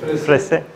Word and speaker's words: Fraïssé: Es un nombre francés que nadie sabe pronunciar. Frese.